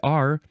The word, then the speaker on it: er: wouldn't spell that e r if it's spelled e r you pronounce it R yeah and sometimes people